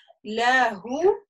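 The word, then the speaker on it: لَهُۥ: Смотрим, смотрите, у вас идет ля-гу, ля-гу, видим га, с дамма, и после нее идет маленькая вау. То есть это вот как раз на это правило указывает. Если я остановлюсь, я скажу ля.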